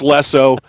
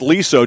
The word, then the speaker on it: Lesso: just to double check that it's Lesso, not Liso, just like it's Kalen Lakey, not Kalen Lackey.